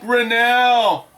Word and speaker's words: Grinnell: name is pronounced my last name is pronounced grinnell i'm fine man thank you so much for